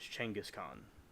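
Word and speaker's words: Genghis Khan: doing some research on genas Khan and the right pronunciation of it is Changas Khan by the way and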